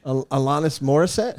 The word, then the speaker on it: Alanis Morissette: though first up linus what did you say alanis morissette is how you say it that's the first